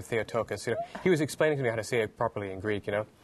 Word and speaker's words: Theotokos: You gotta, you know, he was saying you gotta say it like this, Theotokos.